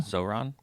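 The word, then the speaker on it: Zohran: Zoron. Mom Donnie. So, it's like Say it again. Zoron.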